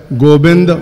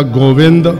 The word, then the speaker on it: गोविंद: अर्थ किए ने कि संस्कृत का शब्द है गोबिंद जा गोविंद जा गोबिंद, बदल बदल के इसका उच्चारण बार बार गुरबाणी में आता है।